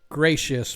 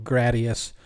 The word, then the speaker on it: Gretz: He says it's supposed to be pronounced gracious, but everybody knows it. They call him Gradius.